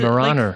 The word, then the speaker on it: Weimaraner: The W's a V. That's just because it's German.